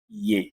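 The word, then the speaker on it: Е: Essa aqui é a primeira vogal composta do alfabeto russo e a gente pronuncia como Ye. Ye. Teria o valor de um I e um E juntos no nosso alfabeto.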